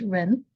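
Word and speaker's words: 仁: It's pronounced as Ren and um it's actually made up of two parts.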